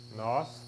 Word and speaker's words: nós: Satanás, Babilônia, Syria, Assíria, Judá, us, nós, N-O-S, with the accent on the O.